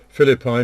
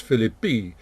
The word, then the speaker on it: Philippi: by the way that when i was taught latin i would have pronounced this philly b but i'll for the purposes of our study here i'll stick to the more usual pronunciation and tell my latin